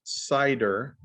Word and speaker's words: CIDR: and then we'll present how it is that cider this is pronounced cider cidr that stands for classless Internet domain routing right cider it's an adaption of how you use the